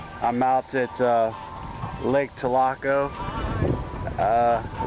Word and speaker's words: Tholocco: out at uh Lake tilaco uh locals down here call it talaka I don't understand why because it's spelled t-h-o-l-o-c-c-o it doesn't have an a at the end but I don't want